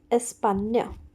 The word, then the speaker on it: España: This is pronounced as España.